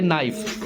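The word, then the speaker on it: knife: क्या पढ़ते हैं आवर इसे पढ़ते नाइफ इसमें क्या होता है साइलेंट के क्या होता है इसे साइलेंट के इसमें कॉम इसे क्या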